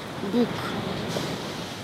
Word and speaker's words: Bóg: Bóg. Comme Facebook? Oui, comme Facebook. Mais ça s'écrit Bog. B-O-G.